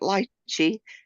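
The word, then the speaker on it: lychee: why I asked because we pronounce it lii and I'm sure different things are pronounced differently but lii with the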